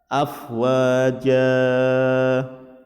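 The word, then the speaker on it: أفواجا: Contoh bacaan afwaja, dibaca 2 harokat, tetapi Kadang orang membacanya lebih dari 2 harokat.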